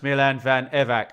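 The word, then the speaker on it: Milan van Ewijk: Pete, it's pronounced Milan Van Evac.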